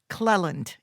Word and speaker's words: Clelland: me introduce mr clelland am i saying it right it's a cle lindell clelland which is perfect the first time okay good that's what